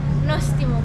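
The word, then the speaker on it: Νόστιμο: Nostimo, polinostimo.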